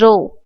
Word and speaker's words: rho: and this is the this pronunciation is rho. This P pronunciation is rho.